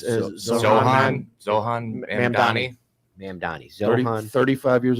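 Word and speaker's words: Zohran Mamdani: Yeah, it's Zohan Mamdani.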